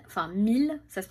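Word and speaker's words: Miele: Donc j'avais un appel avec la marque Miel, enfin Mille, ça se prononce Mille, moi je dis Miel mais ça se prononce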